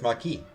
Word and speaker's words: Marquis: in the world mother I thought in French it was my key I thought it was Marquis in French Marquis okay Marquis then Daddy